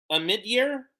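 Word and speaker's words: Omidyar: by its owner and a mid-year is how you say it a mid-year old mid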